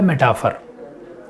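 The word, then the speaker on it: metaphor: तो ये मेटाफोर लोटाफोर नहीं है और गिलास फोर, इसको पढ़ते हैं मेटाफर, मेटाफर, मेटाफर, ठीक है। जैसे सिमिली पढ़ते हैं उसको मेटाफर पढ़ते हैं, उच्चारण पे ध्यान दीजिएगा, मेटाफर।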